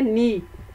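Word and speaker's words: knee: नी के स्पेलिंग है के एन डबल ई नी। अब देखें इसमें कौन सा लेटर साइलेंट है। शाबाश, सोच के खुद से बताएं, इसमें है के। ठीक है, हम लिखने में के एन डबल ई लिखते हैं लेकिन बोलने में इसको नी बोलते हैं, तो के इज साइलेंट।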